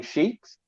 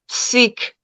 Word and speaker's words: Sikh: They were attacking sheikhs, however you pronounce the right way their thing was. Sheikh? Sikh, not with an SH, it's just Sikh.